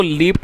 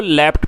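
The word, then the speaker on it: leapt: और इसको आप में से कई लोग शायद इसको लीप्ट पढ़ते होंगे, तो ये गलत प्रोनाउंसिएशन है दोस्तों। इसको लीप्ट नहीं पढ़ना, आपको इसको लेफ्ट पढ़ना है। I repeat लेफ्ट। तो इसकी जो सही प्रोनाउंसिएशन है वो है लेफ्ट, और ये लीप की सेकंड फॉर्म है।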